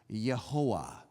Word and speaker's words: Jehovah: same word, because Jehovah, we mispronounce it in English, Jehovah, because unlike almost any other language, we say J and V, J and V, Jehovah. But in most languages, you would pronounce this Yehovah.